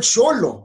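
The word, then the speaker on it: xolo: okay to be indian it's okay the word sholo i learned last night is on now one word it's x-o-l-o because x is pronounced i learned last night according to one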